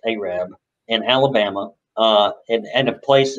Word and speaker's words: Arab: That's spelled Arab, pronounced Arab, in Alabama, and a place at the foot of the mountain in Gunnersville called Dog Holler.